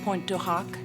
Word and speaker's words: Pointe du Hoc: Normandy and also at point to Hawk As Americans pronounce it um shortly after he